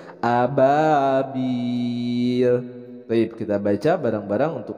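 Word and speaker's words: أبابيل: Jadi dibacanya jelas tanwin bertemu dengan Hamzah ini adalah dibacanya izhar dibaca jelas Ababil baik kita baca barang-barang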